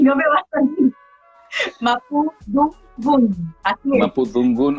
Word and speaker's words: Mapudungun: Siempre, mira, lo practiqué para pronunciarlo bien y no me va a salir. Mapudungun, así es.